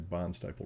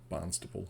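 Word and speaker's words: Barnstaple: until we get to barn staple road or barnstable depending on how you want to pronounce it and the intention is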